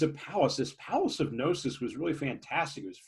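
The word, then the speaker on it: Knossos: the palace is called gnosis it's k-n-o um it's usually s-s-o-s but you don't pronounce the k and this is a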